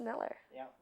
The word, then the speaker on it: Mueller: name for the record we pronounce it Miller okay and it's pronounced Miller you II in really